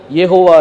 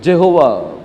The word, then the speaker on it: यहोवा: मेरा नाम यहोवा है। ये यहोवा करके जो नाम है, ये अपन हिंदी में यहोवा करके बोलते हैं, लेकिन अंग्रेजी में क्या बोला जाता है? जेहोवा करके बोलते हैं, जेहोवा।